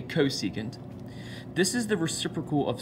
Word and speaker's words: cosecant: so the three are cosecant of our reference angle which we abbreviate CSC but still say cosecant this is the reciprocal